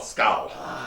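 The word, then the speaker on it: skål: S-K-A-L. Skull. Yeah, They skull wanted- is the pronunciation according to them.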